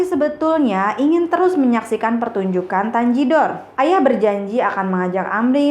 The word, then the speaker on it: Tanjidor: Kata tangedor itu kemudian diucapkan menjadi Tanjidor karena G itu kalau dalam bahasa Inggris kan dibacanya J ya, jadi dan E dibacanya I. Jadi orang Indonesia, orang Jakarta menyebutnya Tanjidor.